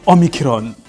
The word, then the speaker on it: omicron: And then after this one, uh we have what is called omicron.